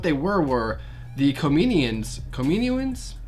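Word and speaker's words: Kaminoans: were were the comedian's kamini wins yes that's how I think that's how you say it Kamino wins yes that's that's how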